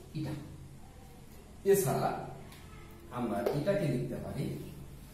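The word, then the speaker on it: η: এখানে এই চিহ্নটার নাম হচ্ছে ইটা, উচ্চারণ করব ইটা।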